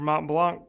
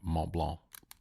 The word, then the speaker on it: Mont Blanc: and its company, and they pronounce it. It's a German. A lot of people think it's French, but it's German. Mont Blanc.